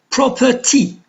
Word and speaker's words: property: Property, we have the suffix T. So is the stress on the syllable just before? No. To before property. So the stress is on the first syllable.